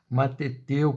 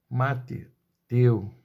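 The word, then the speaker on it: μαθητεύω: Mateteu, pronúncia grega. Mateteu.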